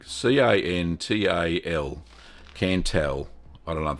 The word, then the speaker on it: Cantal: I think it's called Cantal, or Cantal, C-A-N-T-A-L, Cantal.